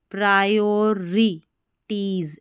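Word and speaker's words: priorities: यहाँ पर देखिए PRI को प्री नहीं पढ़ना है, ठीक है, प्री नहीं पढ़ना है, प्रायोर, ऐसे PRIOR, प्रायोरिटीज, ऐसे साथ ही में पढ़ देना, PRIO, इसको बोलना है प्रायो, RI री, और फिर टीज, TIES, प्रायोरिटीज।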